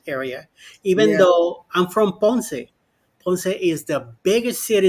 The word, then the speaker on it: Ponce: But Ponce de Leon is just in the right way to say it. Ponce. Just an accent on the E at the end.